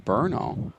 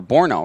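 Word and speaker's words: Brno: are watching game from berno or Borno rather I believe is the pronunciation uh 12:48 a.m.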